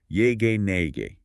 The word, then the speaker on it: Nyege Nyege: It is pronounced "yay-gay-nay-gay".